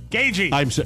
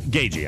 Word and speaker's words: Gaethje: Gagey. Gagey, I know. Rob gave me like a lecture before the show started. A pronouncer.